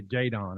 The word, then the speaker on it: Jaden: pronounced it's pronounced Jaden, but I have it's three teammates named Jaden on my team last year, so that's why it got changed to Jadon.